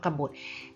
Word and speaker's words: กบฏ: นะ คะ ลง กัน อ่าน ว่า กบฏ ก็ บด อ่า ถ้า เขียน ให้